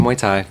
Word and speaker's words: Muay Thai: years yes yes um yep yep uh competitive mu Tha in uh kind of the Bay Area and